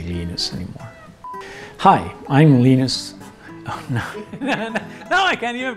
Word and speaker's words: Linus: Some people try to call me, which is just hard to pronounce. So, so as long as they it's some variation of Linus, I'm fine with it.